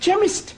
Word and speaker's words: chemist: honey yes please spell chemist Oh blimey okay does not begin with a cake it sounds like it begins with k ch but that is making it chemist oh the CH is